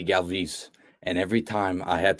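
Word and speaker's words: Galvis: player in the phillies his name was freddie galvez g-a-l-v-i-s and he always pronounced it freddie galvez and every time i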